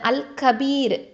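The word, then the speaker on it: الكبير: அல் கபீர், மிகப்பெரியவன். அல் கபீர், மிகப்பெரியவன். அல் ஹபீருக்கும் அல் கபீருக்கும் வித்தியாசம் நீங்கள் காமிக்கணும். ஓகேவா? அல் ஹபீரில் ஹா, ஓகே, ஹெவி லெட்டர் ஹா. அடுத்தது அல் கபீர், ஓகே, இது கேஃப் இருக்குது.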